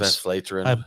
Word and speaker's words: Westvleteren: Westvleteren.